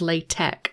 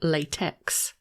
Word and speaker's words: LaTeX: As a side note, if you're wondering why it's pronounced LaTeX and not LaTeX, it's because the X represents the Greek letter chi, or he, and not the Latin script X.